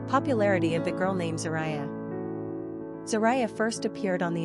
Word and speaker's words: Zariah: Pronunciation, Zariyah.